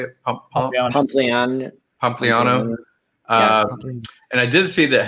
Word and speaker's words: Pompliano: Pompliano.